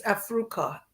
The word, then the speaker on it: AFRUCA: the, I don't know, is that pronounced as Africa, or should it be AFRUCA? Yeah? It's Africa. Africa, okay.